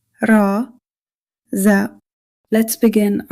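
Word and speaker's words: راء: Our next letter is raa. The articulation of raa is tip of the tongue near the upper gums. Similar to a rolled R. Do not pronounce it like the English R.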